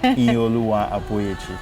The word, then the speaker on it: Iyinoluwa Aboyeji: Help me again with the correct pronunciation. You got really close. Iyinoluwa Aboyeji.